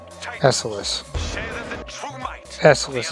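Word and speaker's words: Esseles: Esselis is how you pronounce the name of this space station Execution is everything.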